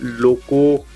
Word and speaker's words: Lauco: officially you can buy one this is the Loco uh l a u c o that's how it is spelled the car mount and it is a